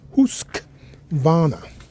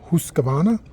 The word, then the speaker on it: Husqvarna: What is the correct pronunciation for Husk Vana? So it's husk vana. It's actually that's how you correctly pronounce it. I think you hear people say huskavana.